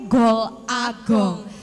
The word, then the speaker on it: Gol A Gong: Beliau adalah nama penanya itu Gol Agong. Dibacanya Golagong. Golong. Golong. Disambung aja. Oh, disambung. Golong.